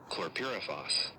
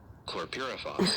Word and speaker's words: chlorpyrifos: And I'm going to let the Merriam-Webster pronounce it here. Let me see. Chlorpyrifos. Chlorpyrifos.